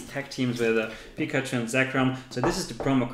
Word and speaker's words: Zekrom: Zekrom? Yes. Is that how you pronounce it? Exactly, oh. That's Zekrom.